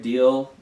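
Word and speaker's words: Diehl: And then there's the character Rick Deal, who's 34 years old. Rick Deal, like D-I-E-H-L, and that's how it's spelled.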